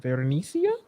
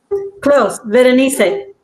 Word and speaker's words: Berenice: Berenicia, did I say it right? Close, Berenice.